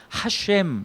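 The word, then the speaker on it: השם: 근데 거기를 어떻게 발음하냐면 두 가지로 발음하는데 하나는 하셴, 이렇게 히브리 말로 하셴 이렇게 발음하는데 그 이름이라는 뜻인데요.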